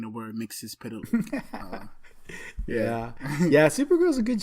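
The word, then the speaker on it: Mxyzptlk: I just got to the episode where she encounters, see if I get this guy's name right, Mixus Pitalik. Yeah. That's how you say it? Yeah. Mixus Pitalik.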